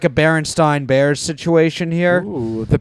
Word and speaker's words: Berenstain: If it's Berenstain Bears, I think they've said Berenstein. it's Berenstain because I think they don't want the Bears to be Jewish.